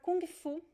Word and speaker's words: kung fu: But in Brazil, how we pronounce it? Remember the G sound? Kung, kung fu, kung fu. So there is this G sound at the end.